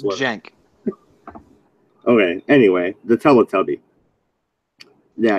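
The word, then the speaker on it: Cenk: No, it's Jank.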